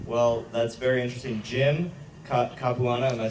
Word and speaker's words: Capuano: Jim Capuano, am I saying it correctly? Jimmy Caps, yeah, Jimmy Capuano, Caps.